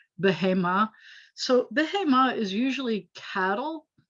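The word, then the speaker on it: בהמה: a woman here isha this word behema accents on the last syllable which is typical isha by the way accents on the last syllable bahema so behemoth is usually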